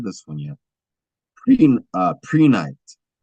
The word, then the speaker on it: Prehnite: Pre-night. And that's spelled Prehnite. Pre-night.